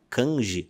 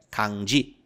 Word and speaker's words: kanji: Tem muita gente que fala kanji ou kanji. O correto é kanji. E tá tudo bem falar assim antes de ter estudado, mas agora que você aprendeu, fale certo. Kanji.